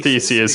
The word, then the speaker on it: Theseus: ship and I'm like, is that Theseus? Yeah, it's the Theseus.